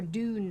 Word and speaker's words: Dune: But like the spice out of Arrakis, that's a June joke, or Dune joke if you're American, June if you're Australian, and apparently we pronounce that weird, and I didn't know that was a thing.